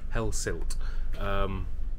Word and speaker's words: Hellesylt: I've been pronouncing it wrong this whole vlog, by the way, and I do apologise. Hellesylt is the correct pronunciation.